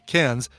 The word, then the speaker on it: Cairns: Take it as an Aussie, Cairns. That's how you pronounce it.